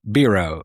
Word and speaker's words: Birell: Um Birell. Birell. Rhymes with zero.